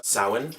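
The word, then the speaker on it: Samhain: it originally it was called Sawan spelled s-a-m-h-a-i-n I I don't know why they pronounced it that way anyway but it was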